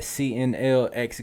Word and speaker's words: CNLX: And that's at CNLX Gaming. The X is silent, so it's really CNL Gaming.